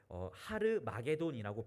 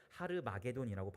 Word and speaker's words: 하르마게돈: 사실 이제 성경에는 아마겟돈이라고 쓰여 있지만 이것을 하르마게돈이라고 발음하기도 합니다. 히브리어로 하르마게돈이라고 발음하기도 하는데요.